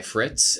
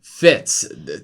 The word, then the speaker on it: Fitz: I guess why um Fitz silent fits the r is silent yeah there you go